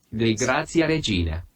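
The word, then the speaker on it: Dei Gratia Regina: And I'll be right back because I think he said that incorrectly. Yeah, he said that incorrectly. Dei Grazia Regina. Yeah. Dei Grazia Regina. That's how he's supposed to pronounce it, but anyways.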